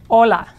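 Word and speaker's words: hola: the English word hi again the Spanish H is not pronounced so it's just Ola now you could use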